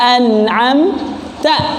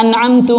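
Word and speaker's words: أَنْعَمْتَ: Misal siratal ladzina an'amta alaihim. Orang bacanya siratal ladzina an'amtu alaihim misalkan. Tapi jarang ya. An'amtu ini merubah makna. Kenapa? Karena harokatnya dirubah.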